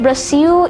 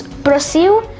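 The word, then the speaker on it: Brasil: wonderful now in brazil it's brazil no i'm pronouncing it brazil it's at the end because brazilian portuguese works this way where the ls at the end of some words is pronounced as well hence brazil now we have argentina which is actually pronounced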